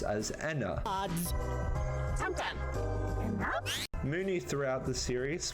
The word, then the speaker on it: ENA: I should note that ENA in Mercy's dialogue is in fact pronounced as ENA. Odds. Mooney throughout the series pronounces ENA's name incorrectly. Hey, Ina.